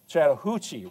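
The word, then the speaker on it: Chattahoochee: right down here, the Chattanooga or excuse me, the the uh Chattahuchi River.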